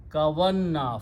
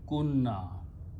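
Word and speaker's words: كنا: This combination, if I simply pronounce, is kavanna, fa'alna, kavanna. But we drop this waw, but move the sound of the waw on kaf. So this becomes kunna.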